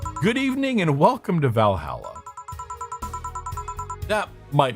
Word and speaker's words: Valhalla: It's pronounced HAL. Valhalla, not Valhalla.